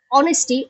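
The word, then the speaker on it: honesty: Knowledge, নলেজের কেটা silent, অনেস্টি, অনেস্টির এইচটা silent.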